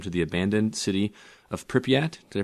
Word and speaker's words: Pripyat: This is the 6 tourists that hire an extreme tour guide who takes them to the abandoned city of Pripyat. Did I pronounce that correctly?